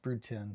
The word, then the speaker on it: Brood X: Uh, it is pronounced brood tin. The X is a Roman numeral based on the original 30 broods named by entomologist Seel Marlay in 1898.